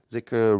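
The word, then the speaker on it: ذكر: have it here so the closest is like th or z so sometimes you see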